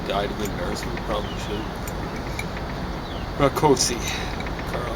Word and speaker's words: Rakosi: Carl Rakosi. Probably should be Rakosi, because I suspect it's Hungarian. I know Rakos is we mispronounce it Rakos. It's a Hungarian. But Hungarians pronounce S's kind of like our SHs, and vice versa.